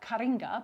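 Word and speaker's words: Påskkärringar: Easter witches called Påsk Kärringar, which looks like Kärringar, but it's pronounced Kärringar.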